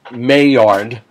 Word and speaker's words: Maillard: i'm doing on the may yard reaction it's pronounced may yard in english mayard was a french